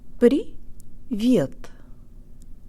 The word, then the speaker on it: привет: Привет, привет.